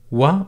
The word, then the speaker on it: و: and sometimes pronounced و, as in U as in moon, slightly shorter than that if it comes or placed in the middle of a word. So wa or u, and it means and.